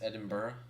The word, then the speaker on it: Edinburgh: Oh, it's Edinburgh. Yeah. No, not borough. Edin- Edinburgh. Like Edinburgh. Edinburgh. Yeah, Edinburgh. Wait, so you're in Edinburgh?